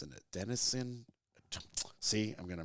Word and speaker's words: adenosine: a scientist, but I believe the word is acenidine. It's an adenosine. See, I'm gonna mispronounce it, and I've had too much whiskey, but it's like I think the word is adenosine, and it's like a chemical in your brain.